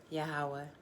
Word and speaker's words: Yahweh: deliverer okay yeah you you may pronounce it many ways yahweh yahuwah depending on where you're from in the world but um yeah is